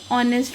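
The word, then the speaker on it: honest: Akash is एन ऑनेस्ट person. H हमारा silent होता है।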